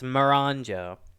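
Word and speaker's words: Miranjo: Lady Marinjo, I can never pronounce her name. Maranjo, I want to say. It's Maranjo.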